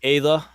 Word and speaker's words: Ayla: So I brought that Elite Ayla, and it is pronounced Ayla for all you listeners. It is not Ayla. You can go and watch Clone Wars for that.